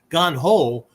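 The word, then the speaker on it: 眼: areas for development right ganho ho is Method rules uh ways or whatever and Gan is I right the other pronunciation May right so meki right how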